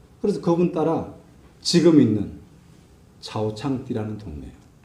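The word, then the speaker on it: 草场地: 그래서 그분 따라 지금 있는 차오창띠라는 동네예요. 중국 발음으로 차오창띠라고 이야기하는데 우리말로 하면 초장지.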